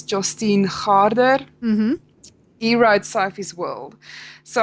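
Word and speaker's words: Jostein Gaarder: how you pronunciated it it's pronounced as Justine harder he wrote sop's world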